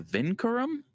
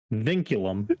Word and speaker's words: vinculum: got one that little line is called a vincurum vinculum you could ask me that but i had no clue it's pronounced thank you yeah thank you thank you